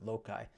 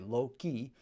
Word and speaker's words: loci: And it is essentially taking, or loci is how it's sometimes pronounced by people. I think correctly it's pronounced loci, but sometimes it just comes out spontaneously, low-key.